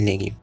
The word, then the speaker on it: legio: del latín, la gi como nosotros veríamos, se pronuncia como gi, en latín legio, por eso es legio.